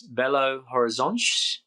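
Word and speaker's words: Belo Horizonte: Uh, now I'm not sure I'm pronouncing it correctly, but it's Bellow Horiz.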